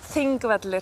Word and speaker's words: Þingvellir: Pronounced? Þingvellir.